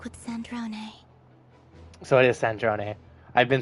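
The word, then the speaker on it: Sandrone: So, it is Sandron.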